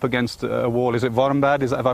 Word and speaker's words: Warmbad: Is it Warmbad? Have I pronounced that right?